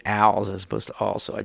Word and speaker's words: Als: by Hilton Al the he prefers the the pronunciation Al as opposed to also I just thought I'd